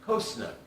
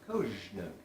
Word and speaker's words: Cozsnug: And so the official pronunciation of koj-snug is koj-snug.